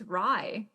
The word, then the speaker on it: Rhys: fact her faq is how do you pronounce the prince's name it's rye is it really he pronounces that rye i can't say that